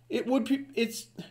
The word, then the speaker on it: Griswold: The Griswolds, that word is pronounced Griswold. Like you hold something, H-O-L-D, hold. Well, W-O-L-D would be wold.